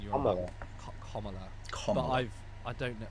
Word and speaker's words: Kamala: Because we were talking about the pronunciation of Kamala Harris's name. Apparently, it's Kamala, isn't it? Kamala, like Kamala is apparently how it's supposed to Oh, be it's pronounced.